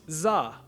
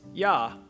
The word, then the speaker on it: do: In Hanoi, up north, it would be pronounced za, while in Saigon, it would be pronounced ya.